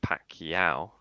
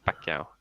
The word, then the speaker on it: Pacquiao: say it mate manny you don't say pacquiao it's uh it's pacquiao it's the pacman what's he